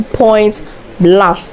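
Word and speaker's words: Point Blanc: Now let's move to point blah. I have to do my mouth like that because the French word and B L A N C n C is silent and so it's pronounced point blah which means white point.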